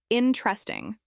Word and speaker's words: interesting: Many learners say interesting, stressing the second or third syllable. But in many English accents, the stress is on the first syllable, interesting.